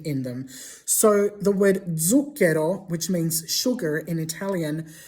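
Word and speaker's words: zucchero: So, the word zuko, which means sugar in Italian, starts with a zed, but it's not pronounced zuko. It's pronounced with a dzed sound.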